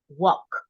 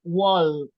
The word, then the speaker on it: walk: the L and K we don't pronounce the L so it's just walk with gay at the end walk right is not wall don't pronounce the ill